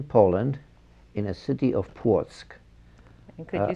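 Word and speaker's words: Płock: was born in poland in a city of portsk and could you spell that for us it's p-l-o-c-k okay thank you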